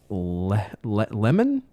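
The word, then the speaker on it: Lehman: It was directed by Robert Weise with a screenplay penned by Ernest Ernest Lemon I think is how you pronounce it. L E H M-n.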